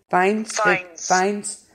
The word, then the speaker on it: Fiennes: Joseph, how do you pronounce his last name? Fiennes.